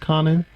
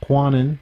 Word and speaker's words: Kwannon: checked it is pronounced Conan not quanin the W is silent so it should be